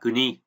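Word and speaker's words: 国: À, âm cưng là kuni. Nghĩa tiếng Anh của chữ quốc thì là country. Và ví dụ sử dụng thì là có kuni, đất nước, đúng không?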